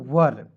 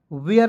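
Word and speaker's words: were: वर वेयर नहीं पढ़िएगा इसे पढ़ेंगे वर जी ओ देखिएगा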